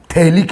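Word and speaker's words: phthalic: थैलिक acid, P silent है।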